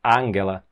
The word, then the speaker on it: Angela: a primeira-ministra Angela Merkel a pronúncia então um pouco diferente do que nós estamos acostumadas não é Ângela mas mangala e ela já está